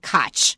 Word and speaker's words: Koch: the US called the Koch brothers and they spell it that way. K O C H. They pronounce it KO. But there is a former former mayor of New York called Cotch.